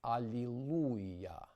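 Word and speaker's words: alleluia: Keeping a pure ooh sound is especially important in the frequently occurring church savonic word allelu. Under no circumstances should it sound as it might be pronounced in the deep south. Hallelu with a diff thong after the oo. Once again in savonic it's alleluah versus allelu. The situation is a bit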